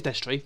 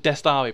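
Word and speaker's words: Destrii: It is Destry. It is Destry. Yeah. Okay, because I used to pronounce it Destari, but that's the guy from Two Doctors.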